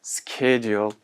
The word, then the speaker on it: schedule: Okay, and we have also another word that is schedule in American, S-C-H-E-D-U-L-E. In British, this one is schedule, okay, schedule. And in American pronunciation, this is schedule. Okay, students, in American pronunciation, we pronounce this word as schedule.